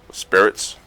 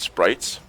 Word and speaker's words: Spirits: to last this once the fire Sprites come out Spirits I've heard Toby pronounced it Sprites which I'm not entirely which I don't entirely agree with but it's going to